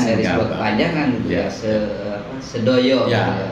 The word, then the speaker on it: Sedoyo: Sedoyo. Sedoyo. Bukan do. Bung Abu ini orang luar Jawa, jadi nggak bisa ngomong do, misalnya do. Tapi kalau dalam ejaan huruf hijaiyah paham bo.